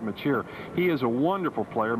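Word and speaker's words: Mečíř: In fact, it's pronounced a lot of different ways, but we say Miloslav Machir.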